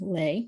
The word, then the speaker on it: Leigh: former mistress, Fanny Butler Leigh, or Lee, depending on, I've heard it pronounced both ways, Pierce Butler's daughter and heir to the Georgia estate, the freedmen enthusiastically embraced Tunis Campbell, the newcomer.